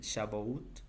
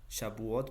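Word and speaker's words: שבועות: Entonces esta Pentecostés es una es también llamada, bueno, en hebreo, no sé si se pronuncia así, el Shabut, Shabuot, perdón, en español pues lo traducimos como la fiesta de las semanas y se celebaba exactamente 50 días después de la Pascua.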